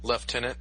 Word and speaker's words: lieutenant: Prime at some point left tenant really that that is the proper pronunciation yes and how is